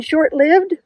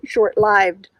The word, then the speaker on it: short-lived: is a weird one the lived in short-lived rhymes with dived it's actually short-lived I did not know